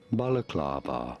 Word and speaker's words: balaclava: about saying it balaclava you do want to stress on the third syllable on the clav syllable balaclava well thank you english